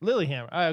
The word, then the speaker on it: Lillehammer: Lilyhammer. Lilyhammer. Okay, I thought it would be, pronounced differently than it's spelled.